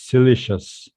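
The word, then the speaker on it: siliceous: uh by the way according to the dictionary it's pronounced as silicious translate um foreign that's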